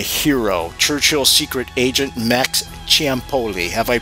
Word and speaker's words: Ciampoli: Churchill's secret agent, Max Ciampoli. Have I pronounced your last name correctly, my friend?